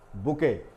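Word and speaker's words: bouquet: उसे कहा जाता है बुके लेकिन उसकी स्पेलिंग देखिएगा क्या होती है बुके तो ये लिखते कुछ और है और यहां पर इसको पढ़ा कुछ और जाता है जैसा की अंग्रेजी में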